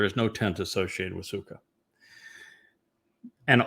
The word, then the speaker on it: Sukah: The verbal root of suka sukot is sometimes is how it's pronounced but it's suka is sakra.